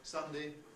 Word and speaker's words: Sunday: Well, one thing that is not at all obvious from the spelling is that the first two rhyme. We say Sunday, Monday. We've got the same vowel sound in each of those, even though the spelling is different.